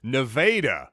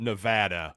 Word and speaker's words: Nevada: people outside of Missouri it's nadaa not Nevada we have a lot of unique pronunciations here in this state without question but T